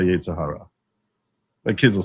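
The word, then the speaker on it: יצר הרע: The more Americanized Orthodox Jews would say Yetzer Hara, but the proper pronunciation, which you'll never hear most American Orthodox Jews say, is Yetzer Hara, but they'll say Yetzer Hara.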